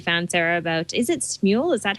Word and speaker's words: Smule: article that you found sarah about is it smule is that how you pronounce it yeah yeah it's funny um chad